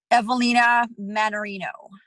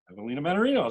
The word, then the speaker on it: Evelina Mannarino: that too much so uh now the correct pronunciation of your full name just so i've got it right evelina mannarino evelina mannarino that's what i had okay i have a